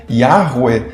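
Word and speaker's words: Yahweh: Seria mais ou menos algo como Yahweu, segundo a reconstituição eh atual e maior consensual entre os estudiosos, com as vogais de Adonai.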